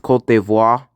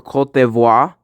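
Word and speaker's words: Côte d'Ivoire: And I think it's like supposed to be pronounced cultivo. Yeah, it's going in E tier. But yeah, the interesting thing about the Ivory Coast or Kavois is that like there's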